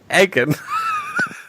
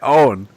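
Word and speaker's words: Eoghan: Egan. No, but it was always... It's E-O... that's how they pronounced it on the show. Oh, really? Oh, it's E-O-G-H-A-N, yeah, Owen. It was never pronounced like that, but yeah, that's...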